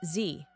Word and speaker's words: Dzi: The word Z isn't Chinese. It comes from Tibetan and is pronounced Z.